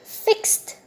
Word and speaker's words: fixed: If I ask you to classify these 3 verbs in this table according to their pronunciation, here, fixed, this ed is pronounced t.